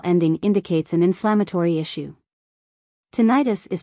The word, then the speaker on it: tinnitus: what you mean however pronouncing it that way is giving it the ending itis such as in the tendonitis this medical ending indicates an inflammatory issue tinnitus is pronounced differently because